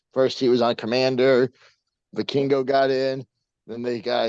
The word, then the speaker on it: Vikingo: Vikingo.